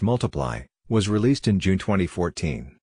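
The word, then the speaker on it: ×: with Elton John his second studio album X pronounced multiply was released in June 2014 it peaked at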